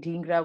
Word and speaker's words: Dhingra: You would pronounce the name Dhingra with the short I, as South Indians tend to.